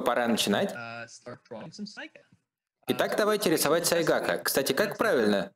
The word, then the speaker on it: сайгак: помощью рисования думаю пора начинать итак давайте рисовать сайгака кстати как правильно произносить сайдак илистый как сайгак ага хорошо просто